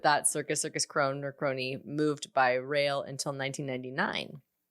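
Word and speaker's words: Krone: but circus crony which we've talked about um it's spelled k-r-o-n-e so circus crone or pony like the biggest uh letdown of 2012 right but that circus circus crone or crony moved by rail until 1999 and then they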